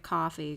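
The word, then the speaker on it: Ko-fi: you can donate on Kofi but I pronounce it coffee cuz I'm I don't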